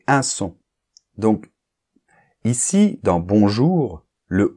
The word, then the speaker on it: bonjour: ok remarque partie 2 dans un mot comme bonjour ou un mot comme allz tu vas me dire ah mais bonjour Je ne prononce pas le N bonjour Je ne prononce pas le U mais ça c'est différent c'est parce que ici le O et le N dans bonjour ou le O et le U forme ce qu'on appelle un moi j'appelle ça une combinaison de lettres on le verra dans